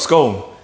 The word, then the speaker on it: scone: a scone I see how do you pronounce Colin an ice cream cone c-o-n-e put an S in front of it you've got scone but they argue and